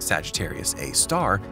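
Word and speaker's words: Sagittarius A*: hole Sagittarius A star frequently referred to as sgr a asterisk and pronounced Sagittarius A star is situated at the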